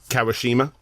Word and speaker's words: Kawashima: don't want to mess up how is this pronounced kawashima kawashima um yeah the guy who did the